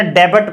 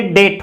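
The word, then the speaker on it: debt: Next जिसको हम जैसे सामान्यतः डेबट पढ़ते हैं, लेकिन ये डेट होता है, प्रोनाउंसिएशन इसका डेट होता है।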